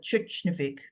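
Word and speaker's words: Tjørnuvík: The people there pronounce it Tjørnuvik, they say.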